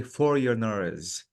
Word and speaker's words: foreigners: This word, Jamila, the G is silent. So I have to say foreigners.